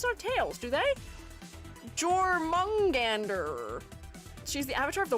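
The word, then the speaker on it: Jörmungandr: Jormungandr. Is that how you say it? It's Jormungandr? Interesting. You could read J as a Y.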